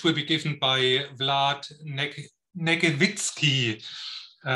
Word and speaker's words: Negnevitsky: firmware design, which will be given by Vlad Negnevitsky. Negnevitsky, that's the right pronunciation, right, Vlad?